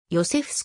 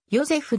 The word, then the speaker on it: ヨゼフ: 同名の作曲家ヨセフス区は祖父であるチェコものジョセフの発音はヨゼフであるが肝要でヨセフとされてきたので複数の